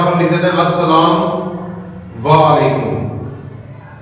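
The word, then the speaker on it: السلام: जाता है उसके अंदर तो लाम साइलेंट होगा डायरेक्ट अनित को सीन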